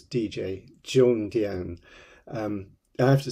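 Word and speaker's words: Zhongdian: d i a n with the Zed H pronounced a little bit more like a DJ um that's not a pop record player but a a letters DJ Jong Dian um I have to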